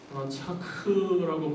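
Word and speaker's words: רצח: 오늘 제 10계명 6계명에서 살인하지 말라라고 할 때 이 살인은 히브리어로 라차. 히브리어 발음 좀 어려운데요. 사실은 라차크라고 발음하기도 하고 라차크라고 발음하기도 하는데 이 히브리어의 의미는 산산조각이 되도록 부순다 그런 뜻입니다.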